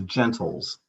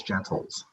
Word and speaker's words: Gentles: Sure, it's a Gentles. Gentle with an S, Gentles.